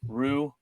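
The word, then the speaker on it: Ryu: It's Rue.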